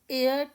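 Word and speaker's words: heir: Next one ही इज एयर टू a large Fortune एयर होता है उत्तराधिकारी। इसके लिए करेक्ट आर्टिकल लगाने के लिए आपको इसकी प्रोनंसिएशन आनी चाहिए। क्योंकि यहां पर हर साइलेंट है।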